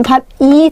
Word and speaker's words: 밭이: 자, 그럼 밭이 참 좋네. 조사죠. 조사기 때문에 형식 형태소니까 얘가 원래 규칙대로 하면 이렇게 연음해야 되잖아요. 근데 이게 어떻게 되는 거예요? 국외음화가 일어나면서 밭이 이렇게 발음을 하셔야 돼요.